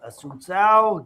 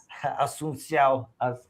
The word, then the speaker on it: Assuncao: to the man, the myth, the legend, Paul Assuncao. Good morning to you. How are you? Good morning. You're probably the only person in the detail industry that can say my name. So I appreciate you. Assuncao.